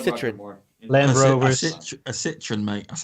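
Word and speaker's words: Citroën: A Citroen, mate.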